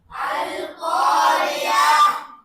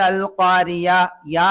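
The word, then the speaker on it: القارعة: படிப்பதையும் கற்றுக்கொள்ளுங்கள் சரிங்களா அல்காரிய அல்காரியா அல்காரி அல்காரியா ஐன் வரணும் சில பேர் அல்காரியா யா என்று சொல்றாங்க தவறு அல்காரிய அல்காரியா கர்சரை வச்சு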